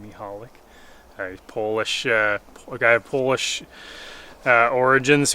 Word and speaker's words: Michalak: I believe that's how you pronounce his last name, Michalak.